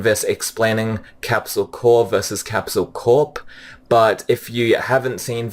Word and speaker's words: Capsule Corp: my prediction is that they're going to change capsule core 2 capsule Corp because capsule Corp is short for capsule corporation and best use for